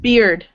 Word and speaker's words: beard: Beard. Beard. Beard. Yeah. You know. Beard. Like. Yeah. Sounds like beer. Beard. Yeah, like beer with a D at the end.